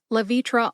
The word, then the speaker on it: Levitra: like Viagra and Calis lavitra also has three syllables L like lacrosse v as in the letter V and TR like tradition put it all together and you get La vitra emphasize V see if you can hear